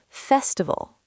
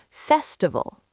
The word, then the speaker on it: festival: Festival. Festivville. Good. Stress the first syllable. Festival.